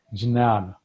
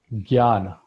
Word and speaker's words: Jnana: The first path, the first stop, or the beginning, I would rather say, is Jnana, or Gyan, as we call it here. It is spelled Jnan.